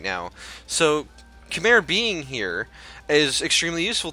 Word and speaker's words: Khmer: This means that my 57 development vassal Arakan and my 77 development vassal Khmer, or Kumai as I've heard it pronounced, Cambodia basically, they are much smaller than me.